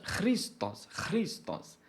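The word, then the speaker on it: Χριστός: O correto seria chamar pela pronúncia Christos.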